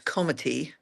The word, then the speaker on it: comité: And we have a special term for that, and it's spelt like committee, but it's French, so it's comité.